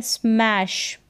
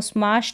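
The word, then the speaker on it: smash: आट स्मार्ट फिर है स्मैश इसको स्मश नहीं पढ़ेंगे स्मैश पढ़ेंगे यहां पर उच्चारण लिखा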